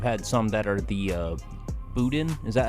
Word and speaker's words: boudin: then I've had some that are the boudin. Is that how you pronounce it?